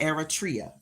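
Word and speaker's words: Eritrea: So, Eratria, Eratria, Eratria. Eratria. Thank you, Irish. That's good enough for me cuz I was butchering it. But it's pronounced Eratria.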